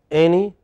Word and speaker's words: any: Your pronunciation of any was right. It is any. The first part is pronounced. Speak with me. Any. Any. Once again. Any. Yeah, stress first part.